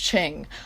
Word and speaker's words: Qing: overthrew his father the qing dynasty in 1911 before everyone gets mad at me that is how you pronounce it this word right here on screen is pronounced ching i am clarifying this